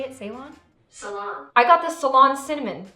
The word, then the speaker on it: Ceylon: Salon.